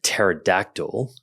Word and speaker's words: pterodactyl: a dead joke H why can't you hear a pterodactyl go to the bathroom because the p is silent okay and with that